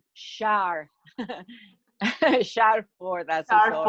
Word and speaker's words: Schaar: Y esta noche tenemos aquí a una mujer encantadora, Shar, dime cómo se pronuncia bien tu apellido, Shar. Así como si fuera Shar.